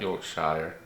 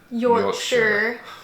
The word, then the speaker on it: Yorkshire: No, not Yorkshire. Yorkshire. For our friends from the UK, they have schooled us on that. We say it wrong, so we'll have to fix that.